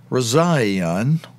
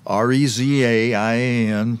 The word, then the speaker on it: Rezaian: Jason Rezaian, or Rezaian, his last name is spelled R-E-Z-A-I-A-N. R-E-Z-A, like Reza, I-A-N, Eon. Or it might be pronounced, instead of Rezaian, it might be pronounced Rezaian.